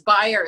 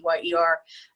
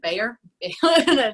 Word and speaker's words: Beyer: Beyer is my maiden name, Beyer, and I kept because everybody pronounces it Bayer. They just always get it wrong.